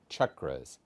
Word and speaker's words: chakra: minutes with Dr Robert the subject is the chakras please note my pronunciation that's chakra not chakra not chakra for